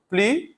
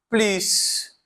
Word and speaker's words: plus: Aqui, em plus, às vezes eu pronuncio, às vezes eu não pronuncio. Vai depender muito do caso, tá? Então, aqui a pronúncia pode ser tanto plus quanto plus. E às vezes pode ser plus, né? Com som de Z também, tá?